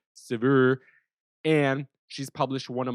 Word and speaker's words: Saveur: I believe that's how you pronounce it, Saveur. Saveur, it's like fur, save, Saveur.